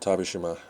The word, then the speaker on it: Tabish Shima: your choice as usual I'm your host tabish Shima and yes that rhymes with Hiroshima and I'll see you